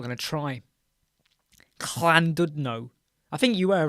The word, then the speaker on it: Llandudno: It's pronounced Llandudno. Do you want to hear this, everyone? Right, let's just see if we can get the sound on this. Are you ready? It's pronounced Llandudno.